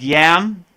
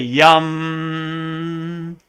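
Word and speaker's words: यं: so the next one looks like yam the heart chakra but it's really yum and the next one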